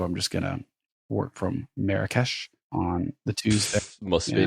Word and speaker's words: Marrakesh: Marrakesh.